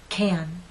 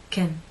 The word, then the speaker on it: can: repeat after me the first one is stressed can can now let's try the unstressed pronunciation Kim Kim and the alternative unstressed pronunciation